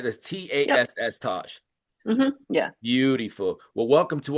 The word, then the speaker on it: Tass: Okay, I want to make sure I pronounce that correctly, right? That's Yep. Tass, Tosh.